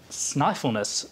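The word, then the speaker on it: Snæfellsnes: to head to uh sniffleness peninsula is how that one's pronounced now this is known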